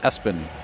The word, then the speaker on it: ESPN: For those of you who don't, yes, it's spelled ESPN, pronounced Espen.